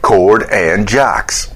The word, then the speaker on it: Chord and Jocks: It rhymes. You know, you got his name, Jordan Cox. Then you do the C and the J, and you kind of reverse them a little bit. Chord and Jocks.